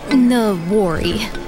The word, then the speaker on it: Noware: Noware. Huh? We're not nowhere. We're somewhere, and that somewhere is Noware, Nebraska. Oh, okay. Noware? No. Say it like you have marbles in your mouth.